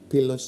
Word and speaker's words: Pylos: called Justice for p pilas pilas and this is yes the initiative is called Justice For Justice for pillos pillos is the way it's pronounced in Greek and and it's actually